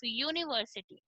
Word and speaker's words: university: Suppose I gave you a pronunciation of यूनिवर्सिटी. Okay, we start it with U is vowel, right? But if you pronounce it U is not a vowel as sound.